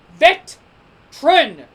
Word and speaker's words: veteran: veteran the veteran veteran it's veteran michael cole not veteran i know americans say things differently but it's vet trin veteran just like how people